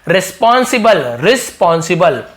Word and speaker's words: रिस्पॉन्सिबल: actually यानी असलियत में, वास्तव में, ही वॉन्टेड वह चाहते थे, टू अपॉइंट नियुक्त करना, एक रिस्पॉन्सिबल, इसे बल पढ़ेंगे, ई को नहीं पढ़े, रिस्पॉन्सिबल, तो रिस्पॉन्सिबल यानी क्या